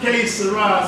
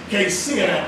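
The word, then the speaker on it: Qué será: And the pronunciation is not K-Sarah, Sarah. That's what Doris Day said. The pronunciation is K-Sira, K-Sira.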